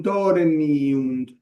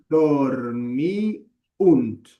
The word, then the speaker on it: dormiunt: Dormunt es una palabra de tres sílabas. Es una palabra esdrúcula. A pesar de que nuestro oído por los tipongos a los que estamos acostumbrados no suene drúcula.